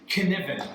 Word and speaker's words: Cynefin: so it's a hard C because it's a Welsh word it means canivan oh nice Canen well